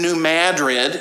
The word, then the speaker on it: New Madrid: And then there's another congregation in New Madrid. It looks like it should be pronounced New Madrid, but it's Missouri, so they call it New Madrid.